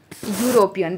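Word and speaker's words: European: यूरोपियन, देखो इसकी pronunciation देखनी है, कौन सी प्रोनाउंसिएशन है, ये कॉन्सोनेंट साउंड है। यूरोपियन, देखो यूरोपियन ऐसे बनेगा ना, यूरोपियन ऐसे बनेगा यूरोपियन। तो यू की साउंड दे रहा है, तो यू की साउंड क्या, क्योंकि यहाँ से स्टार्ट होगा ये यूरोपियन, ई साइलेंट होगा इसमें यूरोपियन, तो इसमें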